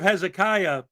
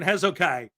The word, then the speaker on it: Hezekiah: in church yesterday and the preacher was reading the story of Hezekiah but he kept pronouncing it wrong and saying hezo Kai so every time hesai